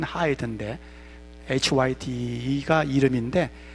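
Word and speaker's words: Hyde: 된 그 인물이 누구냐 하면 하이 되요 숨기기 발음은 하이드 인데 hy 티가 이름인데 발음은 하이드 해 hike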